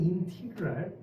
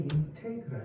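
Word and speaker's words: integral: 인테그랄이고 뭐 미국식 발음은 인티그랄, 영국식 발음은 인테그랄 이렇게 씁니다.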